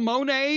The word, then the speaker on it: Monet: goghs and the monettes you always say his name it's monet that's not funny that's the way you say it well monet monet tommy james and